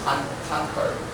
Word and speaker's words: conquer: This word, the stress plus you. Is on the first syllable. We have conquer. Conquer. Yeah. In the past, sometimes the pronunciation will be conquer, but now it's our habit to move the stress forward.